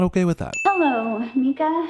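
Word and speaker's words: Micah: Hello, Mika. Mika? I know that's how the actor pronounces his name, and that's how the movie pronounces it, but I'm pretty sure that's wrong.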